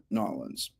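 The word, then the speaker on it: New Orleans: Uh before we jump in with Michelle, I want to give a special shout out to our friends in Nollins. That's how you say it here in America. Nollins.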